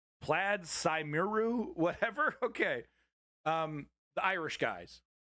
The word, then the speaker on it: Plaid Cymru: Plaid Cymru is how it's said anyway. Plaid Cymru.